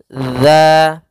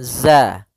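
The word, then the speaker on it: ذ: makhraj huruf dalal yaitu ujung lidah menempel dengan gigi seri atas gigi seri atas sehingga pelafalannya dia dza dza bukan Za ya dia tidak dialirkan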